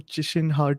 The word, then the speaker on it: Qishen Ha: excited and really honored to be talking to chisholm heart today i'm i was told that's the correct pronunciation thanks thanks so much for joining me